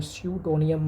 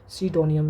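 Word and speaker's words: pseudonym: और स्यूडोनियम मतलब होता है उपनाम, किसी भी व्यक्ति का जो दूसरा नाम होता है उसको कहते हैं सीडोनियम, यानी कि इसका किस तरह स्पेलिंग है इसका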